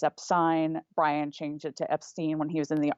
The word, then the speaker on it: Epstein: Brian changed it to Epstein when he was in the army.